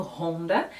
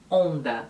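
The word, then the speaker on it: Honda: bmd depende do lugar a marca ronda também tem uma pronúncia diferente a gente costuma pronunciar esse h como se fosse um r é bem levinho ronda mas em países que falam espanhol é simplesmente onda o h não tem som e isso me lembra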